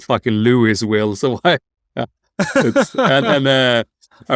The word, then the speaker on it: Louisville: It's called Louisville. Well, it's spelled fucking Louisville, so why?